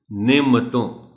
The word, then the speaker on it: نعمتوں: چونکہ عام طور پر اس کو جس طرح پڑھا اور بولا جاتا ہے وہ ہے کہ میم پر جزم استعمال کر دی جاتی ہے. نعمتوں نہیں، نعمتوں. موسم، اس لفظ کے تلفظ